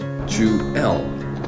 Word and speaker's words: Jewel: Then 5 years later came Jewel, pronounced Jewel, with the accent on the second syllable.